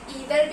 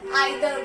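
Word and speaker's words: either: इसके दो प्रोनाउंसिएशंस होते हैं, इसको आप ईदर भी बोल सकते हो या फिर आइदर भी बोल सकते हो, एंड इसको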